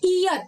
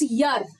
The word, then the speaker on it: year: आप इसको गलत प्रोनाउंस करते हो। इट्स नॉट ईयर, इट्स यर, है ना।